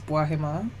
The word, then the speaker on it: Boohema: Um, so I'll actually say my name the proper way. Um, which is Bahima.